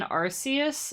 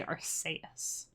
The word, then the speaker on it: Arceus: i'm going to say arseaus because that sounds kind of cool archaeous also sounds cool because it sounds like archaic which is like ancient